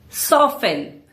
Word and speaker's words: soften: Soften. Again, silent tea.